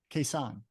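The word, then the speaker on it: Khe Sanh: it's Khe s n h how do you pronounce it quesan okay yeah well at least I said it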